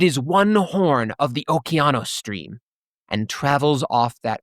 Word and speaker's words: Okeanos: that it originated from Oceanus would be how you would see it if you were pronouncing it in modern English, or Okeanos, if you were looking at it in probably a closer to correct pronunciation, and that it is cold.